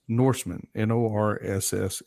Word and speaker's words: Norssmn: So my tag is Norseman, Norssmn. That's why it's spelled the way it is.